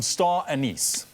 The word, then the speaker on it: anise: And some star anise.